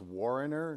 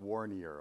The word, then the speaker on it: Warrener: you for 25 years it's pronounced warrener not warnier okay so i just